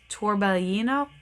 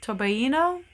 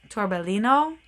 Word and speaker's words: torbellino: I took Italian so I always want to pronounce this sweater torbellino and uh it's not that because it's got the Double L which I know does not make an English l sound um so I don't